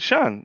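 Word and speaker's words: Siân: I went, "This is a Welsh name." And she went, "Yeah." She said, "Everyone everyone pronounces it wrong." She said, I said, "Well, how would you want me to pronounce it?" She went, "The correct way. It would be lovely." I said, "Shan," she went, "Yeah, that'd be amazing. No one else says my name how it should be said."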